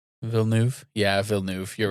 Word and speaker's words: Villeneuve: Director Denis Villeneuve Villeneuve I watched him pronounce it and he doesn't have the extra i sound. Villeneuve? Yeah, Villeneuve.